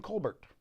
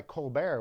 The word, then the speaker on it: Colbert: into the screen there Stephen Kolbert going by Colbert which is actually the French expression of his name and Stephen should actually